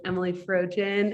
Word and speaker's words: Emelie Frojen: you rayna for that that was the correct norwegian pronunciation of my name which is where it comes from so you know you